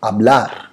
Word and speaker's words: hablar: hablar वापिस एक बार, कभी भी स्पेनिश में कोई वर्ड एच से शुरू होता है तो एच हमेशा साइलेंट होता है और हमेशा ए से हम लोग उसका प्रोनाउंसिएशन करते हैं। लिखेंगे HABLAR लेकिन बोलेंगे ABLAR, that is hablar। H is always silent.